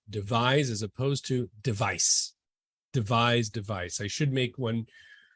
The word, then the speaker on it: devise: Stable Diffusion many times since we devised it.